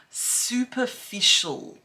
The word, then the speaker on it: superficial: word we have is superficial super ficial can you say that yeah okay so look